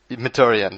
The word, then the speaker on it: Mkhitaryan: That new signing from United, I'm not going to try and pronounce his name, looked Mkhitaryan or whatever it is. Mkhitaryan, there we go.